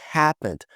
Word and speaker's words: happened: Aqui a gente não pronuncia esse E, ficando happened, não happened.